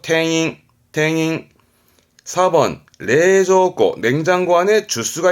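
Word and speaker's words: 店員: 탱잉입니다. 링이 아니고 탱잉.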